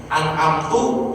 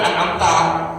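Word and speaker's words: أنعمت: An'amtu dia baca, harusnya kan an'amta, siratal ladzina an'am, dia bacanya siratal ladzina an'amtu alaihim. Itu salah berubah makna tuh.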